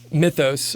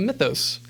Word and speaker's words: Mythos: you should call it mythos which like we were talking about before I don't know how to properly pronounce that I think the Greek way would be like my toast right something but it was all